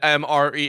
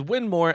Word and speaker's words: Win Moore: I said MRE. It is not. It is Win Moore, as they did today.